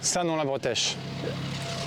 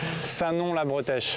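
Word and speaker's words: Saint-Nom-la-Bretèche: How do you pronounce the... Sanon-la-Bretèche. That's what I say that again. Sanon-la-Bretèche.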